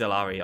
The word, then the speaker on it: Illari: It is Illari. I'm just bad. That's actually the correct pronunciation.